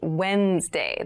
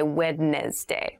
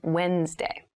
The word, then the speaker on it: Wednesday: mind this is pronounced wednesday there's a d there but we don't say wednesday we say wednesday wednesday the 18th wednesday